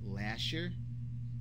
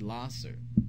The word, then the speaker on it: Lahser: Some people pronounce it Lasher, but if you look at the spelling, L-A-H-S-E-R, it is actually Lasser.